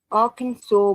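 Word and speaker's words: Arkansas: have some weird laws definitely that's qu Okay arkans saw must be pronounce arkans what arkans okay in arkans is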